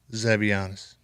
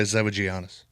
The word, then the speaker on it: Zavagianis: Zavianis. Oh, he did good this morning. Sometimes I say Zavagianis. What? Well, that's how it's spelled.